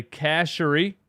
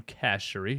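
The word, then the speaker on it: Andre Chachere: Uh, Andre Casherie, by the way, that's how you say his name. Casherie, his wife told me on Twitter, um, is on the practice squad.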